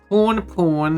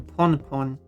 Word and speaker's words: Pon: Porn, hello Kimsikale. Well, I'm not porn. I'm pon. I'm also not a pawn. I mean, I know some people say it like that, but I don't. I say pawn.